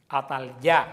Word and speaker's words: Atalía: Atalía, el Señor que se pronuncia Atalyá, el Señor manifestó su majestad.